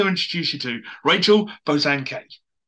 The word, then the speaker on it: Bosanquet: And like the way my family pronounce it is Bosanquet, which is completely different to how it looks. So Bosanquet is a bit more posh and, you know, I like that.